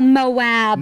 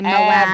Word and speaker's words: Moab: We are back, and as my son says, in Mo, but I think there's two syllables, aren't there? I think so. Moab, Larry. Moab.